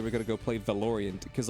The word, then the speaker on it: Valorant: like I was like is it pronounced valoran I thought it was pronounced valerin and they're like yeah